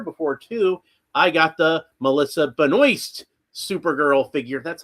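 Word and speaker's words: Melissa Benoist: I got the Melissa Benoy Supergirl figure. That's how she pronounces it.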